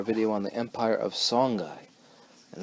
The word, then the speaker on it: Songhai: Alright, here's our video on the Empire of Songhai. And that's how it's pronounced, Songhai, not Songhai.